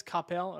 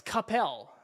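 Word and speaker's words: Coppell: Capel. Okay. Well, tell I've only been to Dallas once or twice. Capel.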